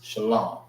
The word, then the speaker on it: Shalom: Shalom. All right. So, sha l this is pronounced by itself.